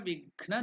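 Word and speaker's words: विघ्न: Together the pronunciation is Antariksha Vighna Nivaranam. So again Ga is Mahaprana, so Ghna.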